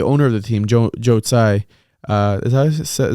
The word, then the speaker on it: Tsai: I mean, I can tell you this: the owner of the team, Joe Tsai, is that how you pronounce his name? Of the Nets? Tsai, yeah, the owner of the Nets.